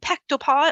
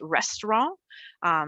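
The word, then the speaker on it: ресторан: So pektopa, it looks like it says, it's actually pronounced restaurant in Russian.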